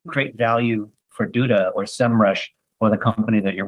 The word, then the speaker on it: SEMrush: knew what a SEMrush, now it's pronounced SEMrush is.